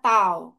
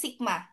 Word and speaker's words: sigma: Dia memiliki dua parameter ya, yaitu min ya, simbolnya mu dan standar deviasi simbolnya taw. atau bacanya sigma ya. Jangan bingung ya dibaca sigma juga itu.